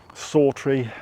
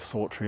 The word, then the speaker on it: Sawtry: sry throughout it didn't actually get called sry um or anything sounding like sry I think it's S A wtr we e sorry in the 1600s prior to that it probably would have been pronounced differently but we will call it sry otherwise it gets uh very confusing so that's where